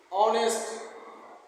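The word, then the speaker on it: honest: जैसे ऑनेस्ट एस ओ एन इ एस टी।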